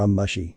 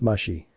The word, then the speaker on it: Mushi: Mr Lee and Mr amashi is it the ticket woman with a mole on her head iro sweat drops it's pronounced Mushy Mushy said matter of